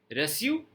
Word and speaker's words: reçu: सी ही पड़ेगा, लेकिन बोलने में स साउंड प्रोनाउंस करना है। Lesson means lesson, रेस्यू means receipt, reçu, receipt।